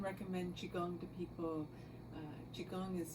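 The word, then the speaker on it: qigong: so I often recommend chigong to people uh chigong is spelled Qi and then gong g n g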